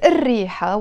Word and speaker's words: الريحة: It's written as الريحة, the smell, but we pronounce it as الريحة. Why? Because the word ريحة starts with R, and the R is a sun letter, so we have to not pronounce the L of the L. So instead of saying الريحة, we pronounce it الريحة.